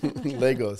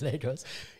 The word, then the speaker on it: Lagos: But the guy that I know that lives in Lagos says Lagos. Lagos. In my head, I always pronounce it Lagos.